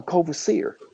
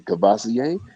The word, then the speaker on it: Courvoisier: again she was like a cover Seer it's like yeah he's like uh you mean cabasa oh that's how you pronounce it I thought it was cover seer so you know he